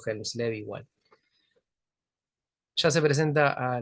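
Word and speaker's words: Hjelmslev: presenta h lev o yens lev en realidad la J se pronuncia como una i pero van a ver que le digo hel lev igual ya se presenta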